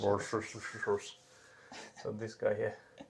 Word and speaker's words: Worcestershire: Oh yeah, it's just Worcester sauce, so I guess that's Worcestershire. Worcestershire sauce.